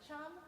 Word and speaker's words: Tram: The T-R-A-M part is pronounced chum, and I go just like chum, like C-H-U-M.